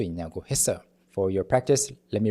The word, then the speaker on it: 했어요: And then lastly, 했어요, the double 시옷 carrying over to the next syllable, 했어요.